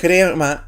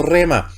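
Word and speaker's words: ῥῆμα: derecha de la pantalla, yo leía grema y no rema. Y la palabra en griego no es rema. Tuve un rema de Dios. No, es un grema.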